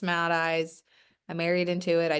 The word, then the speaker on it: Matheis: Yes, my last name looks like Mathis, but it's pronounced Matheis.